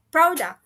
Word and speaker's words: product: Product, product, it should be higher and then fallen sound. Higher and fallen sound. Product, product, product. Ya, gitu. Jadi stresnya ada di first syllable, which is P atau P.